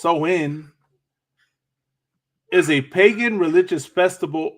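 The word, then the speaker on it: Samhain: know go over it a little bit so Sam Hayne Sam Hayne a GIC word pronounced so in is a pagan religious Festival originating from an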